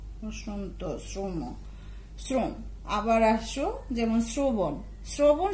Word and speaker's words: শ্রম: এই জাতীয় আমরা রফলা যুক্ত শব্দ পাই যেমন শ্রম শ্রম শব্দের উচ্চারণ ঠিক দন্তস্বর অফলকার ম হস্রন্ত শ্রম শ্রম আবার আসো যেমন শ্রবণ শ্রবণ শব্দটার উচ্চারণ আমরা